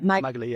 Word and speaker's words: Magali: And so hearing that, I thought was brilliant, the way she, so is it Magali? Is that how you say her name? Yeah, Magali, yeah. Couldn't find the answers, and so just made her own charity.